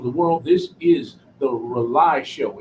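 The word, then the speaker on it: RAULI: video all over the world this is the rely show it's spelled r-a-u-l-i on Instagram going follow the rely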